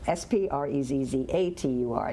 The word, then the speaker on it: sprezzatura: And I'll just spell it. It's S-P-R-E-Z-Z-U-T-U-R-A. No, S-P-R-E-Z-Z-A-T-U-R-A, sprezzatura.